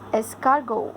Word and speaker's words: escargot: Yes, escargot. I told you T is silent over there when you say this word.